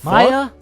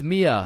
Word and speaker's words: Maya: the Maya is is Maya present uh it's it's Mia wow quite the name